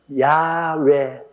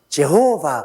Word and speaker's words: 야훼: 우리 하나님 아버지의 성함도 가장 정확한 발음이 뭐냐면 야훼 하나님, 야훼. 근데 야훼 하나님을 이 영어로는, 미국이나 영국 사람들 영어로는 제호바 그럽니다. 이 야훼라고 하면 정확한 발음인데 그 발음을 그들은 제호바, 한국 사람들은 여호와, 일본 사람들은 에호바. 이러니 여러분 아버지 이름도 하나 똑똑히 발음 못하면, 그래서 제가 여호와라고 이름을 적어도 꼭 야훼라고 불러라고 하는 이유가 우리 아버지 성함의 정확한 발음은 야훼입니다. 한번 따라 말씀.